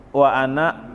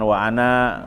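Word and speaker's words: وأنا: dan aku awwalul muslimiin kata anak itu meskipun ada alifnya tetapi bacanya pendek dan biasanya ukuran dipakai lingkaran kecil itu kwana awwalu jangan Wahana untuk khusus untuk anda itu wa Ana awwalul muslimiin dan aku termasuk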